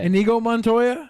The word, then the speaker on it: Inigo Montoya: saying yeah go Montoya is that how you pronounce it yeah inigo montoya I was just going